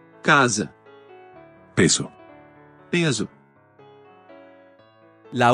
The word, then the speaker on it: casa: La pronunciación de la S intervocálica es sorda en el español y sonora en el portugués, fenómeno que este último comparte con la mayoría de lenguas romances. Casa. Casa.